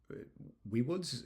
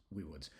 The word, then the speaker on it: Viwoods: Um, also coming uh will be uh Weiwoods is how they pronounce it. Uh, it's written Viwoods. Um, however, in doing a bunch of diving into their software, I'm pretty sure it actually is Weiwoods.